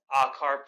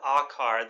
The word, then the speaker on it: akar: as I demonstrate so the idea with akar the first syllable of the OM and the sound ah the idea here is